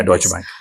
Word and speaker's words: Deutsche Bank: Before that I want to understand like you know getting a job in Deutsche Bank right that's how you pronounce it? Yeah Deutsche Bank.